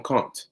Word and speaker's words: Conte: Now, I'm gonna just call him Conte. All right, I have a feeling that's how it's actually pronounced.